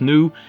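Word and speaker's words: Snoo: this character here i guess the name is pronounced new and yeah i've seen the logo before of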